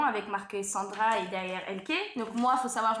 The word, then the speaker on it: Elke: Donc moi faut savoir je m'appelle Elke et pas Elki, hein, ou Eneken. Voilà, je m'appelle Elke. C'est un prénom assez compliqué parce que c'est pas français. Voilà. Et donc du coup, bah moi c'est Elke, donc ça s'écrit E-L-K-E.